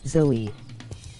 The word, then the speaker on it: Zoe: Zoe is actually pronounced Zoe.